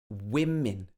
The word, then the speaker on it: women: the next one is woman versus women okay the first one is uh a woman second one is women women okay so let's have a